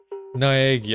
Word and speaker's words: Naegi: Naegi.